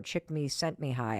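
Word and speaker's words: Csikszentmihalyi: at University of Chicago chick me sent me high I think is how you say his name and activation energy is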